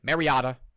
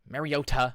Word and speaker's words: Mariota: Or as the announcers are saying, Mariotta. Mariota. Like they thought he's been in the league eight years. They still find ways to mispronounce his name.